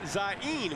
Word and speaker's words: Zane: The sophomore out of Tampa, Florida, really pronounces his first name Zain, which means beautiful and nice.